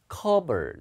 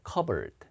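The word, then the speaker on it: cupboard: 예, 이거는 P가 묵음이에요. 여기가 어 발음이에요. 그래서 읽을 때 covered, 그러니까 covered. 컵보드 아닙니다.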